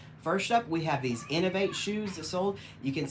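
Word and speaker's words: Inov-8: You can see the logo on there is I-N-O-V, and then it's like a little foot that's supposed to be the 8, so that's, you pronounce it Innovate.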